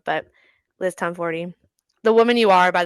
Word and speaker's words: Tomforde: because I thought the E was silent, it is not, which I kind of love. But Liz Tomforty, the woman you are, by the way.